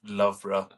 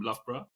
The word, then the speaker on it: Loughborough: take you before you realized that it's pronounced Loughborough? Yeah, when even now, if somebody reads Loughborough back in India, they say Loughborough or Yeah, whatever. I would have said Loughborough or something.